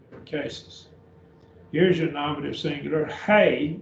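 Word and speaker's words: ἡ: here's your nominative singular hey notice the rough breathing on the a to hey hey and that is a long e hay and that is feminine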